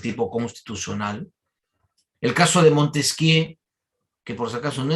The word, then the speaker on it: Montesquieu: El caso de Montesquieu, que por si acaso no es Montesquieu, porque en francés nunca se pronuncia la última, por si acaso, ¿no?